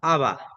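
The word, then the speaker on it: אבא: Por ejemplo, aquí tenemos la palabra aba. Aa. La alef más la vocal a hace el sonido de A.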